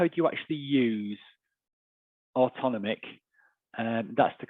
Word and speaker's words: AutonomIQ: so so how how do you actually use autonomic and that's the correct pronunciation by the way autonomic in case you were wondering um but how